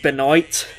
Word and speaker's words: Benoit: universe he'll release me it's pronounced Beloit oh I was gonna